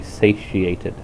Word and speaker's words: satiated: Technically, it says wellsated, but I've always been taught that the pronunciation should be satiated with an I in it.